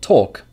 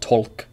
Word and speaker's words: talk: as a great example Tok Tok has no L sound not tolk it's talk same for